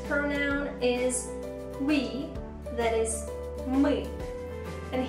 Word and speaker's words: мы: that is weak and here we have a very intricate Russian vowel that is Russian Learners usually have some problems with pronunciation of that vowel what can I suggest to you keep practicing and don't forget to repeat after me just smile and say it me May May the next